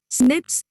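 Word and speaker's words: SNPs: scientists have identified about 1.4 million foreign DNA differences SNP 's layer in polymorphism pronounced as Snips in humans this information promises revise the processes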